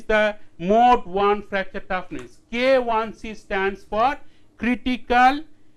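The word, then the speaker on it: KIc: mode one fracture toughness k1c stands for critical stress intensity factor under mode one loading K1 C often the students pronounce it k I which is wrong k1c stands for critical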